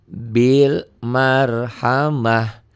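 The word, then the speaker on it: بالمرحمة: ada sukunnya di sini jadi bacanya Bil Marhamah Bil Marhamah ya tanya berubah menjadi H karena ini tak butuh menghentikan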